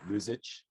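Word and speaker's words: Luxich: youth program I know lose itch or luxage I I it's spelled l-u-x-i-c-h lose it um he told me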